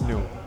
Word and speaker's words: Nue: And by the way, how do we pronounce this? I'm saying it new. It's new. It's new.